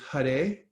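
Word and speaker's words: Hare: and 32 syllables and it's first starts with huh day and that's how you pronounce that H a r e and it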